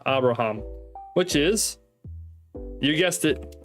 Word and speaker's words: Abraham: here which means that we put an H sound in front of the A and so it's habraham Habra there we go cuz each vowel gets its own syllable so it's um ha bra um three syllables Abraham which is you